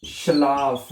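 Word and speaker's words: Schlaf: शलाफ हैं।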